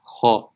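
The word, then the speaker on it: خ: The next letter is kha. The makhraj of kha is the top of the throat nearest to the mouth. So the top of the throat nearest to the mouth is right here. Kha, hu, hi.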